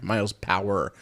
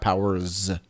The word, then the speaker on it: Miles Power: when you do that sorry miles power not powers so there's a guy